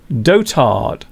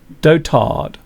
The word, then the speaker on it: dotard: So for those who don't know what this means, first of all, it is pronounced dotard. Dotard.